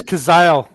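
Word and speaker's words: Cazale: is it John kazel it's kazel John Kaz John cazelle yeah he died not long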